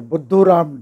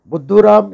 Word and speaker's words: Buddhuram: Buddhuram is a hindi word, which actually rhymes with Mr. Dumbo in English.